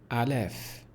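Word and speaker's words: الف: letters let's get started the first one is pronounced Alf Alf well this one right here the first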